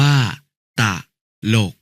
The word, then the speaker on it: ตลก: จริต อ่าน ว่า จริต ตลก อ่าน ว่า ตะลก ตวาด อะ อ่าน ว่า